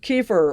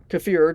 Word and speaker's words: kefir: She makes kefir or kefir, depending on which way you like to pronounce it.